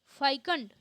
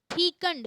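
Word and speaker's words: fecund: शब्द शब्द लिखा है फाइकंड। फाइकंड, फाइकंड इसको गलत बोलते हैं। इसका जो सही उच्चारण है फीकंड।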